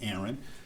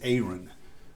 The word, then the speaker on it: Aaron: And so I should be okay to say that my name is not Aaron, it's Aaron.